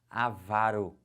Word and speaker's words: avaro: a pronúncia correta agora gravem agora comigo a pronúncia dessas paroxítonas já vão marcando assim ela vai aqui como é que fala isso avaro que que é avaro